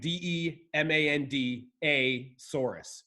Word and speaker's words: Maiasaura: trustworthy these answers are demanda Soros fine need a final answer sure it's like demand de ma nd a Soros demand a Soros yeah